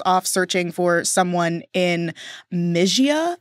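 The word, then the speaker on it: Mysia: searching for someone in mijia I think is how it's said my y s i a the two twins convinced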